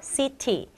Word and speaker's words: city: 한 번 더, city. 빨리 읽으면요, 우리 t 소리가 약간 약해져가지고 city 이렇게 발음하면 됩니다.